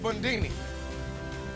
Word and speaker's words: Bundini: I'm called Bundini. Rhymes with Rudy.